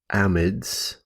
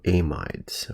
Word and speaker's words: amides: and that is the amides or amides all right so you can pronounce that a couple different ways and the amides are